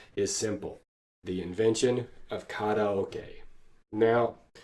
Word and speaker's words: karaoke: Now, one trade-off of having lived in Japan and studied Japanese for so long is that I can't pronounce Japanese words in American English anymore. Let me try again with that one. Karaoke. Okay, that's all you get. It's koke from now on.